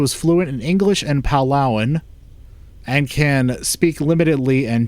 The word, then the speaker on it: Palauan: How do you pronounce it? Palauan. Palauan.